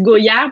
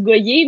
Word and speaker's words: Gohier: C'est drôle que tu dises Goyard parce que, en fait, mon nom se prononce Goyer, mais c'est vrai que ça Ouais, fait Go-Yard, comme si on allait, c'est tu sais, ça.